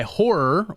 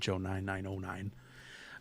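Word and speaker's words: HO99O9: Uh, by horror, or as it's spelled, HO9909. It's horror though. Don't be a square and call it HO999.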